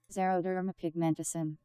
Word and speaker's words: xeroderma pigmentosum: Pronunciation. Xeroderma pigmentosum.